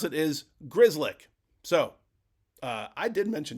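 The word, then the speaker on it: Grzelcyk: talking about the guy that I kept calling Griselic. The way to pronounce it is Grizzlick.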